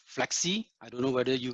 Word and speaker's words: Flexe: You know, tech application in like Flexi. I don't know whether you guys have heard of Flexi, but if you not, go into it. It's spelled as FLEXE.